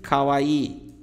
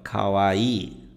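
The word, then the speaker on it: かわいい: já ouviu Com certeza muita gente pronuncia errado essa palavra fala Kawai né Kawai né ele tem um prolongamento aqui ó Kawaii tá significa bonitinho meigo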